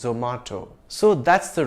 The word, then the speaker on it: Zomato: Well, Zomato is an Indian multinational and I've heard its Indian founders pronounce it as Zomato.